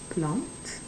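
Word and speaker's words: plante: la plant la plant and you pronounce it because of the e at the end if the e wasn't there then it would be laplace but because the e is there we pronounce the t and it's la plant now we have number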